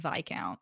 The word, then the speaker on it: viscount: thank this book for teaching me how to pronounce the word vi count cuz definitely did not know that before yeah